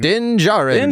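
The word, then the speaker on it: Din Djarin: They have enlisted the help of legendary Mandalorian bounty hunter Denjaren. Is that how you say it? Denjarin. Djarun. Nailed it.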